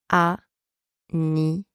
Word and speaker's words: anniversaire: E, and the final E here is silence. You do not pronounce it. So we have serre. Serre. All right, so that gives us anniversaire.